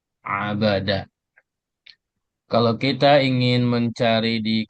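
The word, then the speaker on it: عَبَدَ: Huruf ain, huruf ba, dan huruf dal dengan harakat semuanya fathah. Abada.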